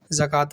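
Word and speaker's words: زكاة: दो जबर तन सतन अब यहां पे वाव लिखा होता है तो ये कंफ्यूजन होती है कि क्या वाव को पढ़ा जाएगा हिज्जे में या रवा में तो ना हिज्जे में ना रवा में वाव को नहीं पढ़ा जाएगा ठीक है ना सलात में ना जकात में ऐसे आपने जकातनका भी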